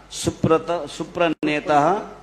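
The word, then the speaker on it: सुप्रणेताः: So in 3 places there should be a H with a dot on the bottom. It should be aha, like সুপ্রণেতা, snigdha chetaha, supranetaha, and vagminam cha rasa plutam, prabhupada gataha pranaha. There it should be also a H.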